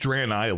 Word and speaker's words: Draenei: it is now a Draenei, and yes, it's pronounced Draenei, like Bran, if you watch Leo's video.